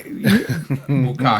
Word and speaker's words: bukkake: Like buck, Buck. horns, cake. Buck cake. Yeah, But it's that's pronounced- phonetically spelled. Yeah. But it's pronounced bukkake.